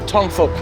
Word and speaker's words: Tong Fuk: Tong Fuk. Yeah, I didn't want to say because it might sound like something else. Tongfuk. F-U-K, yeah. Careful with the pronunciation. Fuk. It's not fa, it's fuk. Fuk, right?